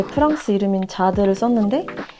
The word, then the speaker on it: Jade: 아무래도 본명으로 불리는 게 제일 편해서 제 프랑스 이름인 자드를 썼는데 이게 영어로 얘기를 하면은 읽어진단 말이에요. 그래서 아직 저를 잘 모르시는 분들은 많이 부르시는데 프랑스어로 읽어서 자드라고 합니다.